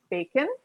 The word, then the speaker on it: Bacon: And from Atlas Ocean Voyages, we have Eric Bacon, and without the French pronunciation.